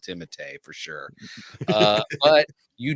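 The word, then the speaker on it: Timothée: he pronounces so he he tells people to call him Timothy shalam and but his the real pronunciation is timate timate I knew it was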